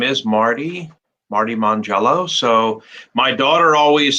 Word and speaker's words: Mongiello: i just tell him just remember jello on monday my family eats jello on monday that's what you're famous for mon jello so mangelos fantastic that's